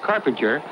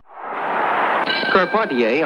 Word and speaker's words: Carpentier: George kept on ta whose name is sometimes erroneously pronounced carpenter told greatest fights of the century that it is called ponte a which he prefers karpati a on your left comes